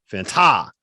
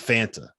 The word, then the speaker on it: Fanta: I think this year, John, you need to start going as Fanta instead of Fanta. You need to be Fanta. You got to put the right emphasis on the correct syllable.